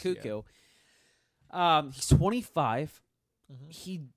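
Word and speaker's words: Koekkoek: And so Slater Kuku, I keep wanting to say Coac because that's how it's spelled, but it's pronounced Kuku.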